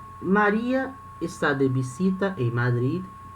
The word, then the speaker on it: Madrid: Esse último D aqui, ele tem som, Madrid. Em português nós falamos Madrid. O D é mudo, né? Madrid. Mas em espanhol tem som, Madrid. Tem um som bem curtinho.